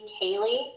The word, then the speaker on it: Koehle: Yes, my name is Cayley. My last name is spelled Koehle, and my office address is 2415 West Falls Avenue, Kennewick, Washington, 99336.